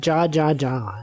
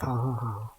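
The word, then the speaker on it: jaja: It's like when people say ja ja ja instead of ha ha ha. They don't even know. It's just spelled like that. It's not pronounced like ja.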